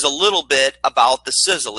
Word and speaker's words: Sisel: Sizzle is pronounced like a sizzling hot steak, but it's an acronym created by founder, billionaire Tom Mau.